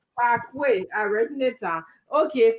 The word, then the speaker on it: Paraguay: And before you guys start, it's Paraguay, not Paraguay. You pay me for teaching your people to pronounce my cousin name. Paraguay, I read it down.